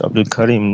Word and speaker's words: Abdul Karim: It is Abdul Karim, not Abdul, as you pronounce it.